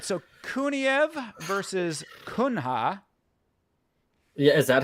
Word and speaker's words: Kuniev: I think Kuniev is or Kuniev is how you pronounce him at least.